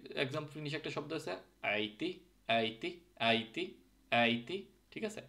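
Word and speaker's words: äiti: আছে ক্যাট একই এক্সাম্পল নিশেষে একটা শব্দ আছে আইতি আইতি আইতি আইতি ঠিক আছে আইতি যদিও এটা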